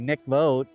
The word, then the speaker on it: mikvot: around 48 mikvah or the correct way to say it would be mikvot in Hebrew.